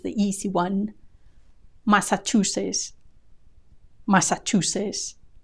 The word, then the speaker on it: Massachusetts: Maran Maran marilan marand Massachusetts Massachusetts I love this one there's no hint of the final T Massachusetts Massachusetts when faced by two final consonants Spanish speakers tend to drop the one they find most difficult to say and keep the easy one in this case the S is the easy one Massachusetts